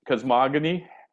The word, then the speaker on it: cosmogony: I think it's a hard G. I know I'm being pedantic, but Cosmogony?